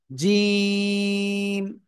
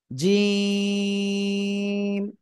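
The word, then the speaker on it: جيم: ওকে, জিহ্বার মধ্যখান তার বরাবর উপরে তালুর সাথে লাগিয়ে উচ্চারণ করতে হবে। জিম, তিন আলিফ টানে উচ্চারণ করতে হবে। জিম।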